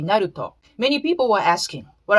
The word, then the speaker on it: Naruto: not the black ambassador doesn't exist in japanese so naruto is actually naruto many people were asking